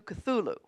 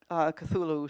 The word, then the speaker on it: Cthulhu: Yeah, well, note I didn't pronounce it Cthulucene, but Thulucene, and went to the phonic, not to Cthulhu. And that, I haven't read Lovecraft's Cthulhu stories, but of course I know about them.